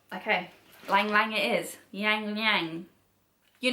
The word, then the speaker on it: Ylang Ylang: I need to learn how to pronounce this, don't I? Let's ask Google. Something more like Ylang Ylang, almost like... Okay, Ylang Ylang it is.